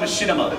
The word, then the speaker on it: Machinima: No, it's called Machinima. So why? So how did this pronunciation?